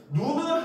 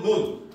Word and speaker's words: 눈: 그리고 마루에서 졸다가 깬 눈을 하고 앉은 눈 여기서는 지금 졸다가 깬 눈 사람의 눈이 이 때문에 여기서는 짧게 소리가 나죠 그죠 장음이 아닙니다 알겠죠 자 그래서 그리고